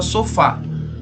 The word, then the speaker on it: sofá: que prolonga a mais por exemplo na palavra só falta serve a setinha e o sofá aquela sílaba que sustenta mais então sendo a última